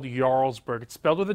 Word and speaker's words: Jarlsberg: speaking of melted cheese this one is called Jarlsberg expel to the J but it's pronounced Jarlsberg and its a Norwegian cheese that has a